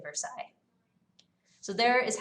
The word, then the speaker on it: Versailles: There's a lot of letters we just don't pronounce when we say Versailles.